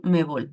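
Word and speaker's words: CONMEBOL: También cuenta con un diplomado de psicología deportiva y varios cursos con respecto a psicolea en la Comebol, COM Comebol, así se pronuncia.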